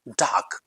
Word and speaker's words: dark: हैड गॉट डार्क before, डार्क नहीं, right pronunciation डार्क, डार्क, हल्का सा आर को साइलेंट करेंगे, डार्क।